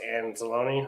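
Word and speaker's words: Anzalone: i mean dan campbell's gonna start uh alex and zalone that's how you say his name yeah i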